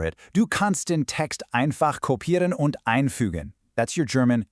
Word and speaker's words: kopieren: In German, whenever you see ie together, it makes a long e sound like in the English word be. So, it's not kopieren, it's kopieren.